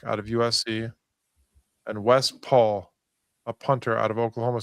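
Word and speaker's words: Pahl: And Wes Paul, a punter out of Oklahoma State. And that's how you pronounce his last name, even though it's P-A-H-L. And it's not Les Paul like a guitar.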